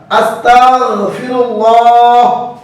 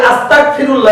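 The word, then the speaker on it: أستغفر الله: এখানে আমরা অনেকেই করি আস্তাগফিরুল্লাহ, এটা ভুল। লক্ষ্য করুন, আমি বানান করে দিচ্ছি। হামজা সিন জবর আস, তা গয় জবর তাগ, তাগ তাগ, আস্তাগ, ফাজে ফি, আস্তাগফি, র লাম পেশ রুল, লাম খারা হাজব আল্লাহ, আস্তাগফিরুল্লাহ। এখানে গয়নের উচ্চারণ কাফের উচ্চারণ যেন না হয়।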